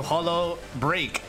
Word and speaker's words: Holo X Break: cbar welcome tonight to hollow break they the x is silent we do not pronounce that otherwise K is going